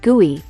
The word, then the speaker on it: GUI: Visual user interfaces or GUI pronounced guey are used in modern operating systems.